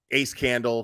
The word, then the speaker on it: Ace Candle: She's saying that going after creators like me, Crude AF, Burnt Toast, Ace Candle, pronounced a scandal, going after creators like us, you know, and going after creators for no reason, such as Kraken Cases.